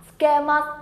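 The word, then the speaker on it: つけます: Từ này chúng ta đọc là skemas, âm vô thanh hóa này.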